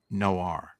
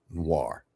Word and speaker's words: noir: Spell it this way, Rex. Write this down. N W A R Noir.